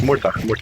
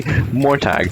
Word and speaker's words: Murtagh: Yes, Murtagh. I said, I have small brain, I'm a bad caster, I need to remind myself how the names are pronounced. I say Mortagh, and, Murtagh.